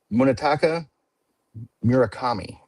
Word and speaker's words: Munetaka Murakami: I want to hear you pronounce it. Oh, of course you do. Munetaka Murakami.